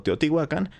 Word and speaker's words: Teotihuacán: la verdad es que actualmente ambas formas se consideran correctas pero yo estuve trabajando hace ya muchos años en un museo y había una sala dedicada a esta cultura así que como todos lo pronunciaban como teotihuacan pues se me quedó más esta forma aunque de repente también lo pronuncio de la otra manera una mezcla hay un